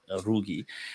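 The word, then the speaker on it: Ruqi: That was Sheikh Muhammad Rugi. Oh, okay. They Mm. spelt it as, I mean, they write it as a Ruki with a Mm. calf, but he pronounced Yeah. it as a Rugi.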